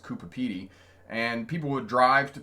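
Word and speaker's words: Coober Pedy: PT Cooper Peter is it spelled but it's pronounced Cooper PD and people would drive to Cooper Cooper PD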